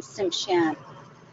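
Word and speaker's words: Tsimshian: It's nice to be here with all of you, and you pronounce my nation Simshan.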